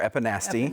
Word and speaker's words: epinasty: I think people pronounce it all different ways, but it's epinasty or epinasty. Epinasty, yeah.